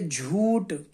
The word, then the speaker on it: جھوٹ: پڑھا جائے گا بھوت۔ ایسے ہی جب جیم کو ہا سے ملائیں گے تو اس کا تلفظ ہو جائے گا جھا، جیسے جھنڈے والا، لہذا اسے پڑھیں گے جھوٹ۔ ایسے ہی با کو